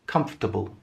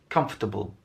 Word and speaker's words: comfortable: So it's not comfortable, that we don't it doesn't have that many syllables when we pronounce it. It's just comfortable, comfortable.